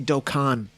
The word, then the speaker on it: Dokkan: campaign celebration token festival docon festival however you want to pronounce it i say doke and people make fun of me for it whatever man it just feels weird to say dokkan all the time right it's just